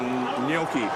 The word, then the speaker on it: gnocchi: I want the gnocchi. How do you say it, gnocchi?